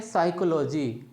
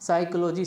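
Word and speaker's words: psychology: जीी वाई अब इसको हम क्या पढ़ते हैं साइकोलॉजी क्या पढ़ते हैं साइकोलॉजी साइकोलॉजी का मतलब होता है मनोविज्ञान अब इसमें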